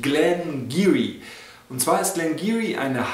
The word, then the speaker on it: Glen Garioch: aus der Brennerei glenar es schreibt sich zwar glenaroch aber es spricht sich gleniri und zwar ist gleniri